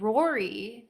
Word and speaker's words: Rory: Girls it's Laura and Rory which rhymes with Corey and Rory is actually